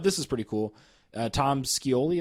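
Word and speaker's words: Tom Scioli: is pretty cool uh Tom skoli is how you say his name sure that's how we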